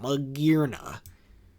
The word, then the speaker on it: Magearna: I hate when people pronounce it like that. Magearna.